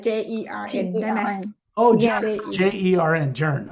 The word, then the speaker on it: Jern: จะพัดเจิ้น ชื่อ ค่ะ เจินไหม พูดให้ เจิ้นไหม เจิ้น เจิ้น ใช่เจิ้น เจิ้น or you call her เจิ้น You'll have to spell it for me later, J Perry. like JERN ได้ไหม Oh, Yes.